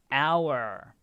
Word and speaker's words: hour: for it is to our exactly now be careful the h is silence because these are parts